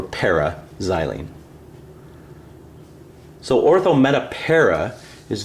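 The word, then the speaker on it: p-xylene: In words, you still say meta. We wouldn't say M-xylene or O-xylene. We would say orthoxylene, but when we spell it, we just abbreviate with an O, or an M, or in this case, P for paraxylene.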